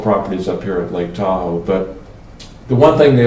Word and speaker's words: Tahoe: Tahoe is derived from a Washoe phrase that describes Lake Tahoe, Da'auga, and we heard that, us white people heard it, Da'auga, Tahoe? Tahoe rhymes with Washoe, and that's kind of how it got started.